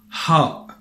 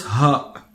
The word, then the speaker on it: ح: Ha. So it's not ha, it's ha, ha. And this letter, it's pronounced in the pharynx. The pharynx is an area that is at the beginning of the throat, or at the opening of the throat.